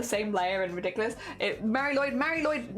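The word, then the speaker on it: Mari Lwyd: a mar lyd a mar Lloyd yeah but it is it is said like Mar Lloyd yeah uh dear y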